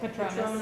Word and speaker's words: Patronus: How do you say it? Patronus. Patronus, thank you.